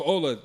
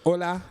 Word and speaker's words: Ola: I just said her name, Ola. That's it. Hola.